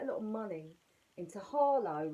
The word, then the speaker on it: Harlow: And my MP, my local MP, has said they're going to roll out quite a lot of money into Harlow, right? Pronounced it with an H.